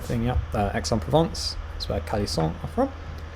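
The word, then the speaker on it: Aix-en-Provence: um uh correct yeah that's pronounced x on provence but i'm thinking of the right thing yeah exxon provence that's where khali song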